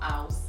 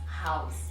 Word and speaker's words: house: Some people will say house. When you say house, you're not pronouncing the letter H sound, so you need to be conscious. When you're making the sound in a word, at times you can skip it unknowingly, but the word is pronounced in the word house. So it's not house, it is house, house. As if you're aspirating.